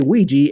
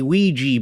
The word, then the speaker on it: Ouija: still calling it the ouija board oh yes now how do you say it yeah i say it both ways and the company will popularly endorse both pronunciations oh see forrest wanted